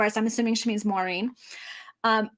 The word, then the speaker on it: Maureen: I'm assuming she means Maureen um I don't pronounce it exactly the way the Irish do but it's so similar to the angle sized version m-a-u-r-e-e-n Maureen that that's basically how I pronounce it let's see oh